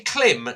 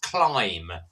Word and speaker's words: Klim: Now, it's everyone says, is it a Klim? No, it's pronounced Climb.